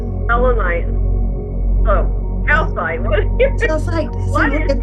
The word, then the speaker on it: selenite: Selenite? Selenite.